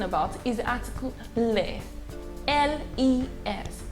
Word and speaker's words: les: is the article le l-e-s it's pronounced as le now le is a